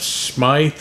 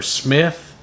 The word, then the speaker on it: Smyth: particular and that advertiser is the county of Smith or Smith it's spelled em s my th Virginia and the